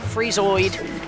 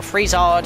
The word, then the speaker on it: Freezard: If you get frozen, just mash buttons, do not target that massive Freezoid, or Freezard, however you pronounce it. I'll say Freezard.